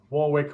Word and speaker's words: Warwick: say warwick warwick's again i think it's called warwick isn't it that's how we pronounce warwick warwick like that that